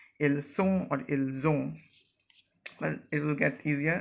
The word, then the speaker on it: ils ont: Here again the basic difference between ils, elles sont and ils, elles ont is the buzzing sound. Here we say ils ont when we are pronouncing this and this together, and here it was simply ils sont.